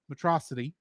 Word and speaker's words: Metro City: the same as Superman's Megamind's pronunciation of Metro city has the same stress pattern as Metropolis atrocity atrocity Megamind takes on a